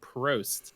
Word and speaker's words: Prost: And we're no longer going with the post system, we're going with the Prost system, as the R is not silent.